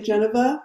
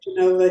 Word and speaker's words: Genova: Oh, if we were in Italy, they would say Geneva, but they say Genova here.